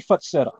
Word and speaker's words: Fatseta: Well, it's going to be Fatseta.